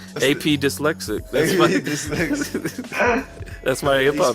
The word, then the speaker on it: PA Dyslexic: AP Dyslexic. That's my hip He hop. spells it P.A. PA Dyslexic. I'm AP Dyslexic, but when you read it, it says PA Dyslexic. It's spelled P.A. It's pronounced A.P.